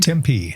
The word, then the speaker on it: Tempe: We are at Arizona State uh University in Tempe. Am I pronouncing that right? Tempe.